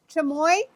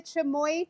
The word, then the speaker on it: Chimayo: So, we made the chammoy. I'm saying it right now because somebody taught me how to say it properly. We made the chammoy chili chili um simple syrup.